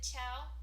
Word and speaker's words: Ciao: The next pen is the Ciao. It's spelled C-I-A-O, like the Italian word for hello, goodbye, ciao.